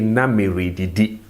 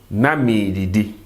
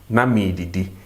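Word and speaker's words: na me re didi: He will say na me didi, I was eating. Na me didi. The re is silent. We don't pronounce it. We take away the r and then we elongate the e.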